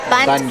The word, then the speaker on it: bundt: try the pumpkin pumpkin bundt cake but you don't pronounce the d you just say silent yeah you just say bump cake bunk or butt bunt cake spelled spell bun